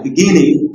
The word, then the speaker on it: beginning: At the beginning, it is not beginning, at the beginning, stressing on the second syllable.